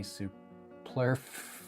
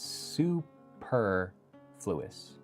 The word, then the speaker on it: superfluous: Pluris supuis super fluis superfluous I did it we don't have any supur superfluous it's not supur it's superfluous don't have any It is superfluous.